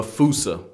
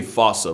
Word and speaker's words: fossa: Bane to lemurs everywhere the fusa although with its spelling I'm pretty sure it's actually fossa but the day I pronounce